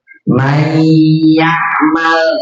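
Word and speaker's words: من يعمل: Mayyamal tuh, ini kan? Mayyamal. Nah, tulisannya itu man yakmal, betul gak? Ya. Tulisannya man yakmal.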